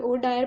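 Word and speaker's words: O'Dwyer: lieutenant governor सीगे Michael ओ डायर Punjab दे और एसपी सीगे सुपरिटेंडेंट ऑफ पुलिस सीगे पंजाब दे जनरल डायर दोन का जो नाम है वो डायर डायरी प्रोनाउंस हो है लेकिन स्पेलिंग अलग है जो लेफ्टनंट गन लेफ्टनंट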